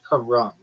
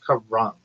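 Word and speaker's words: Carrom: Karam, the board game is usually pronounced Karam. Not even like Ram. It's Karam. Sounds like car ramen. Emphasis on the first syllable.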